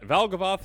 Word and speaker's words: Valgavoth: Valgavoth sounds like a moth.